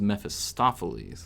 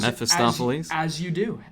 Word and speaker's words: Mephistopheles: Okay, but so the guy's name was Mephistopheles, so Correct. the emphasis was on the off, right?